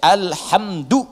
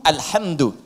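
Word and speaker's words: الْحَمْدُ: bidah Ya paham ya jadi bacaan di semua para pembacanya itu mendamahkan huruf Dal di alhamdu ya alhamdu alhamdu saya hapus dulu ya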